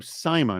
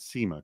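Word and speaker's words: Sima: By the way, it's Simma, not Sema.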